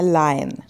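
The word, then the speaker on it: lion: भूलना ऐसे बोलना है लायन लायन ओ का आवाज नहीं दिखे ए की ध्वनि आपको देनी है नर्स नर्स आर साइलेंट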